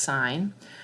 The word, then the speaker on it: sine: one we call sine it's abbreviated s-i-n but pronounced sine and that's when from